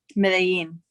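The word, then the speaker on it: Medellín: As somebody raised in Nicaragua and the US who spends time in London, how do you say Medellin? Medellin.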